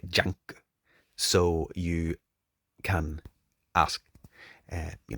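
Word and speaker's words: ジャンク: shop uh in Japanese junk is pronounced like junk so you can ask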